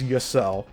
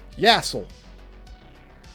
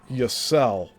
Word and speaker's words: Yel: hard to pronounce, but he knows my last name is Yel, but he says it like all these other dipshits that don't really care about what they say. like Yasel. That's the most mispronounced way people say my last name. It's Yel, but he couldn't get that done.